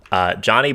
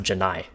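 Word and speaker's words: Johni: Johnny Broom, or I think it's pronounced Janai Broom, is just an absolute monster.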